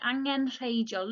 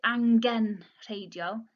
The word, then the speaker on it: angenrheidiol: Notice the G there, the third letter, the G. You wouldn't pronounce that too harshly. You don't say angenrheidiol. Angenrheidiol. Make it a softer G. Join it with the N there.